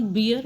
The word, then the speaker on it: bear: Okay so एक बेयर होता है जिसको आप टॉलरेट कर सकते हैं और एक बेयर जो है animal. It इज़ नॉट बियर, इट इज़ बेयर.